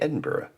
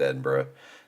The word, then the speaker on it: Edinburgh: just letting you know it's pronounced Edinburgh it's not Edinburg and uh you know